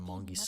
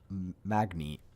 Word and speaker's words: Magni: Oh, Magni. I've been saying it wrong this whole time.